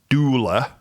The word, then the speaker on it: doula: I want to say dueler, which is spelled D for delta D, O for Oscar, U for uniform, L for lemur, A for alpha, doula. And basically what they are